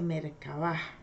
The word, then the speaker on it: Merkabah: Esa Merkabah, que se escribe con K, termina con una H al final, se dice Merkabah, la cual crea, controla y tiene la habilidad para hablar a través de sumideros electromagnéticos.